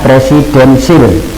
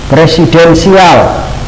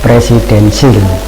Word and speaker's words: presidensial: presidensiil dan parlementer oleh ingat disini presidensil tulisannya itu adalah presidensial tapi maaf itu cara membacanya presidensil nah ini untuk diketahui bersama jangan sampai nanti anda di muka umum mengemukakan dimuka umum hilang dengan kencengnya presidensial nah salah itu yang benar adalah presidensil selanjutnya adalah kita pahami